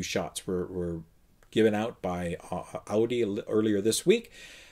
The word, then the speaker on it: Audi: Sorry, I've got to pronounce it correctly. I got corrected on one of the last comments. Audi.